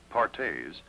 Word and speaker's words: Perthes: her doctors another crippling disease known as Perthes pronounced partes was the demoralizing ailment that brought this little